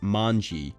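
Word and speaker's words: 卍: all things symbol and in japanese it is pronounced manji hence the gang's name the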